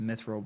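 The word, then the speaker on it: mithril: Uh myithil uh anvil is one of the hard hard mode ores I think it's usually pronounced myithil by uh terraria players but yeah that's that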